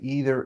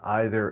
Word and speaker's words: either: Some people say either and neither, some people say either and neither. And guess what? It doesn't matter.